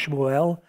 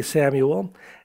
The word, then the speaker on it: Samuel: Usually it's pronounced Shmuel, but we say Samuel, and it means heard by God.